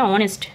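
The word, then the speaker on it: honest: Note বলছে কোন ওয়ার্ডের প্রথমে এইচ থাকলে এইচ এর উচ্চারণ হবে না। যেমন দেখো এখানে অনেস্ট।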